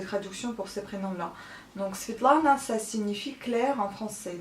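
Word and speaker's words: Светлана: Je m'appelle Svetlana, donc le prénom en russe c'est Svetlana, avec un bon accent au début du prénom et pas à la fin comme à la française.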